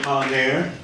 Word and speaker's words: Pollinaire: We're used to saying Pollinaire. It rhymes with millionaire.